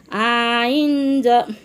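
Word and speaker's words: ع: সাথে নুন সা নুন আইন আইন হলকের আইন উচ্চারণ কেমন হবে আইন হলকের মধ্য হতে গলা সিফে আদায় হবে গলা সিফে আদায় হবে নইলে হামজা অথবা ইয়া অক্ষর আদায় হয়ে পড়া হারাম হয়ে যাবে খারাবাঁকা চিহ্নের এই জায়গায়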